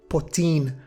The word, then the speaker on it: Potin: Now, the word Potin, Potin, what does it mean? Well, from one of the ways we pronounce it, Potin, we can guess it comes from French, from pot, or in English, pot.